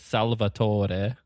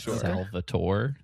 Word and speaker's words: Salvator: Just like it's Salvator in this game and not Salvatore.